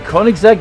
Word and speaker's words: Koenigsegg: we have the hot wheels boys driving the koenigsegg yes go and yes that is how you pronounce it and also from new zealand we